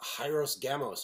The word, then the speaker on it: Hieros Gamos: I think it's the H is actually silent in the original, but yeah.